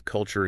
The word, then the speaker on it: culture: They They want to read them phonetically based on the letters on the page. Yeah, exactly. To hit that ch- sound, the phone there, your mouth has to physically flex.